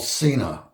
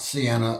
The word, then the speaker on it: Sena: interrupt this program because I was saying it wrong it's called Cena not Sienna or Sena it's Cena and um that's the name